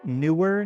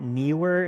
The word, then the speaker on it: Neewer: And quick side note, it's pronounced newer, not neer.